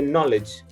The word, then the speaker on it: knowledge: where I explained that if there is a K at the beginning of a word followed by N, then you do not pronounce the letter K. You just continue with the letter N. You just ignore the letter K when you pronounce it.